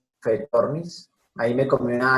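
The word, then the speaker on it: Phaethornis: Clorofanes es pizza, PHF, PHAE, fe, fetornis.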